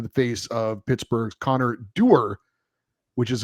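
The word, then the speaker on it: Dewar: cross check to the face of Pittsburgh's Connor Der, which is how it's pronounced. I've been calling him Dwire because there is a W in there, but apparently it's pronounced Der.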